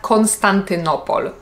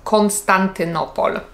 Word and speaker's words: Konstantynopol: jedną sylabę na przykład Konstantynopol Konstantynopol możecie usłyszeć że lekko akcentuje ko na początku o Konstantynopol bo pomagam sobie trochę